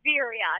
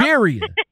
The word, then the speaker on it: Veriha: It's Veriha. Yep. Veriha. See what I'm saying? Yep. Veriha. Say it like it sounds. Sound like I say it.